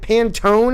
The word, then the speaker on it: Pantone: put out a really cool game is it pantone is how you say it yep based on